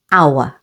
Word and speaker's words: hour: H is always silent at the beginning of these words. Only. Air. Honest, with the stress on the first syllable. Honest. And hour.